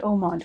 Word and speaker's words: Haut Monde: it it's a french it's a french word it means high society okay uh like a